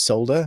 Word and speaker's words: solder: up much is uh in England we we pronounce the L so it's solder but whenever hear in